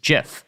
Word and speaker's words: GIF: Reviving The age-old Debate is it pronounced GIF or GIF well if it matters to anyone in a 20 interview will height himself said it was JF so I'm going to